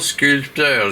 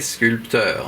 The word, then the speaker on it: sculpteur: Je ne suis pas un faux sculpteur, je suis un vrai sculpteur, hein. Je sais qu'on dit sculpteur, mais j'aime bien, moi, me forcer à mettre ce P pour le prononcer, et donc je le prononce en disant sculpteur.